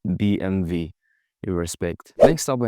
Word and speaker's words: BMW: They say B MV and the problem comes with the W. You see in German the letter W is pronounced V and the letter V is pronounced F.